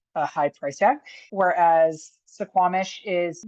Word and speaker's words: Suquamish: Now we're going to head up here to this little community called Suquamish. And I'm probably pronouncing that right. It's probably just called Suquamish. That first U, I think, is silent.